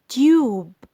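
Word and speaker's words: tube: هنا تيوب، حرف اليو اتنطق باسمه الحقيقي.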